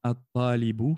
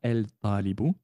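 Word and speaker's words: الطالب: Alors, quatrièmement, at-talibu maridun. At-talibu maridun. Donc, on ne prononcera pas le lam ici. At-talibu. On ne dira pas el-talibu.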